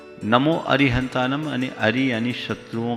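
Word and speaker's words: अरिहंताणं: पढ़ना चाहिए नमोस्तु गुरुवर अरिहंत एवं अरहंत में से कौन सा सही उच्चारण है देखिए धवला के मूल में जो सतखंडा आगम में उसका उचार उल्लेख है लिपिबद्ध रूप में नमो अरिहंतानम है हालांकि अरिहंतानम अरिहंतानम दोनों प्राचीन पाठ दिखते हैं नमो अरिहंतानम यानी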